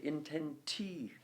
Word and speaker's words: intentique: other words, the omnes, the next word is intentique. Okay, intentique. You're putting the stress on the intenti, which means in that third foot, neither of those two syllables are getting stressed.